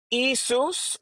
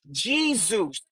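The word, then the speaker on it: Iesus: From the Greek it went to the Latin which was Eusus or Jesus. During that time in the Latin there was no distinction between the J and the I. So you could have pronounced it either way but typically they pronounced it Jesus.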